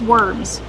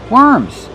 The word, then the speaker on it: worms: Kevin, how do we pronounce worms? Worms. When we have W, we change the pronunciation. We do not say or. We pronounce it. Were worms. Use the sound like burger.